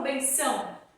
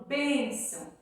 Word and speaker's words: bênção: Só que eu não falo benção. Eu falo benção? Eu falo bênção. Então, a sílaba tônica é o bem.